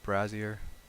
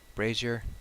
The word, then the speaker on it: brazier: over there by that brassiere brassiere brazier and I'll share how to pronounce a brazier that's how I pronounce it so you enter